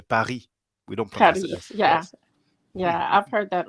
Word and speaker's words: Paris: and um very little we don't actually pronounce the s actually you know it's like you know english speakers say paris paris but we say paris yeah yeah i've heard